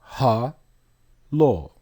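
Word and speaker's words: הלל: the word is hello look at the pronunciation ha law hello means to praise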